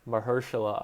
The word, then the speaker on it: Mahershala: seen that blade has been announced already mahershala mahershala ali excuse me butchered that on the first try is going